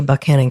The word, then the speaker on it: Buchanan: seat of the larger buckhannon county though originally named for the 15th american president james buchanan i am in fact pronouncing the county like the locals do so please spare me